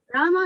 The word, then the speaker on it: Rama: The words Hare, pronounced Hare, Krishna, pronounced Krishna, and Rama, rhymes with Rama, are Sanskrit words.